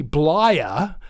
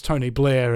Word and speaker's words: Blair: for the famous Tony bler uh that's Tony Blair is the correct pronunciation I said bler deliberately uh she worked underneath